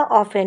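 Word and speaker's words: often: यहाँ पर आर में एच साइलेंट था, ऑफन में टी साइलेंट था, राइट में डब्ल्यू साइलेंट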